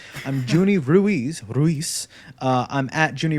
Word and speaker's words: Ruiz: uh i'm ruiz juni i think i mispronounced my own damn name i'm junie ruiz ruiz uh i'm at junie ruiz on twitter